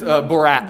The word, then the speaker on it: Borat: It's Borat.